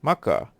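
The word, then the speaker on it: Makkah: k k a h Maka which is a more accurate pronunciation derived from the original Arabic by considering this pronunciation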